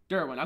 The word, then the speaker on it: Derwin: So when it comes down to Dion and is it Darwin? Derwin.